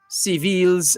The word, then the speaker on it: Civil: of moise's private home seville's attorney reynold georges called his clients arrest politically motivated it wasn't immediately clear if civil civil civil that's the name it's spelled civil but pronounced seville the it wasn't immediately